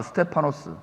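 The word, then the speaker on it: στέφανος: 스테파노스.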